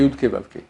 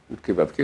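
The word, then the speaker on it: Yud-Ke Vav-Ke: Ce nom-là, c'est Yudke Vavke. Yudke Vavke, donc les lettres Yud, et puis Hei, et puis Vav, et puis Hei, qu'on n'a pas le droit de prononcer.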